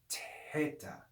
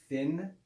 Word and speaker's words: theta: you hear it's a it's like the sound of a t with aspiration with breath that's the real classical sound of the letter theta which would be pronounced teta and we'll see why